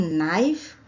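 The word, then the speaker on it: knife: इसका अर्थ होता है अगर हम नाइफ शब्द को लेते हैं इसमें भी साइलेंट ही होता है और इस नाइफ का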